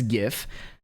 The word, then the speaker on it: GIF: So you can see in this GIF, which is the correct way to pronounce that, by the way, that they have